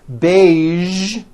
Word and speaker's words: beige: television very good now there are only a few words that have the voice z sound at the end a few of these words are the color beige the word massage and the word Prestige okay now that